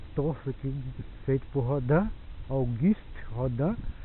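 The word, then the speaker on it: Auguste Rodin: Depois do nosso torço aqui feito por Rodan, guist rodan, né, como se fala em francês, né, ou guist rodan.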